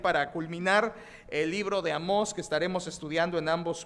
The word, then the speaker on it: Amós: digo a dónde a dónde amos no se pronuncia amos se pronuncia amos tiene un acento en la hoy es un